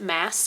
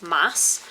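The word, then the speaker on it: Maas: i recently learned that it is pronounced mass and not moss so i'm probably going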